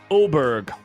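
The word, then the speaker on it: Åberg: Oberg. A-B-G. Aberg.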